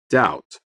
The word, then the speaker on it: doubt: G is silent. Dishonest. H. Doubt.